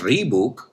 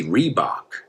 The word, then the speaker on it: Reebok: Y no decimos Reebok, we say Reebok.